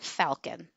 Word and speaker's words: Falcon: I'm going to go with Falcon. It is spelled like Falcon, like the bird.